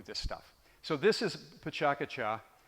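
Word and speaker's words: Pecha Kucha: So this is Pachakacha, which, you could debate the pronunciation of that. Looks like Pechakucha.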